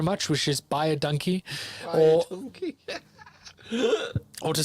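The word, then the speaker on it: dankie: To say thank you, you say donkey. Donkey. Thank you, or thank you very much, which is buy a donkey, or or to say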